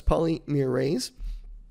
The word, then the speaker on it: polymerase: Now, transcription requires an enzyme called RNA polymerase, and that's how you pronounce that. It's polymerase.